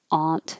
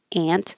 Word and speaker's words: aunt: have different preferences so this could be a aunt like hot aunt yeah or it could be a ant the same as the insect ant wonder is uh as